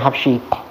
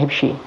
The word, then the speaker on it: Hibshi: Bikasril ha al-muhmalah, kalau kita bacanya habshi, ini katanya hibshi.